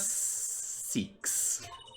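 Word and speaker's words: Cykes: that's Alice in Wonderland my name is seeks yeah that's how you pronounce that armed with analytical psychology and a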